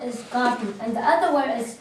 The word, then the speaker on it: Gobi: So this word how you pronounce is Gobi, and the other word is Taklamakan Desert.